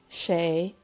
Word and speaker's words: sé: So it is cold in Irish is tá, shay, foor.